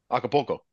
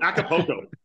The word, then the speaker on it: Acapulco: Did you pronounce the L? Yeah, yes. What do you say? Poco? Yeah, I didn't. Poco. Acapulco.